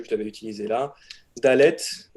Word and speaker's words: Dalet: Dalet. Alors, ça se prononce D. Il n'y a aucune particularité de prononciation.